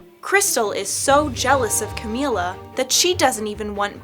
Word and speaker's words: Camila: Hey, Camila, wait up. Actually, it's pronounced Camila.